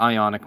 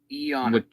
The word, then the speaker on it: Ionic: Yeah, you have the Ionic now. Eonic.